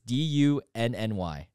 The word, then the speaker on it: dunny: dunny a what i don't know how to pronounce it it's dooney or dunny it's d-u-n-n-y dunny so you don't know that one okay